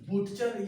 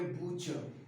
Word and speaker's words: butcher: बुटचर या बटचर नहीं, इसे पढ़ेंगे बूचर।